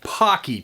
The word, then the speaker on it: Paqui: That's pronounced Paqui chips. My mistake. Paqui chips.